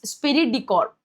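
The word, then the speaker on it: esprit de corps: बट the correct pronunciation is स्पिरिरी डिकॉर्ब।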